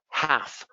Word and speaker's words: half: How about the L? Half, walk, could, salmon.